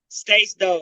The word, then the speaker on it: Stace Dog: Spell it for him. STACDOG. Ain't that it, Jay? Yeah. STACDOG. Right, that's it. Stace Dog.